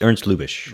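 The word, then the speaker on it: Lubitsch: Uh is that how you pronounce his last name? Yeah, Ernst. Erns Lubish.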